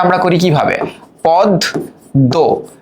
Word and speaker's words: পদ্ম: উচ্চারণটা আমরা করি কিভাবে পদ দ। তার মানে দেখো ম এর উচ্চারণ হলো না।